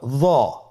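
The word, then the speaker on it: ظ: হরফটির নাম হলো য। হরফটির নাম কি? য। একটু মোটা করে বলতে হবে। হরফটি হলো মোটা হরফ, বারিক করে পড়া যাবে না এবং হরফটি উচ্চারণ করার সময় অবশ্যই 1 আলিফ টেনে পড়তে হবে।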